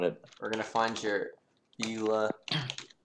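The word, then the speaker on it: Bela: You write it B Okay. E L A and you pronounce it Bila. Bila. Similar, but you pronounce the E different. Actually, in German, you don't pronounce an E like an E.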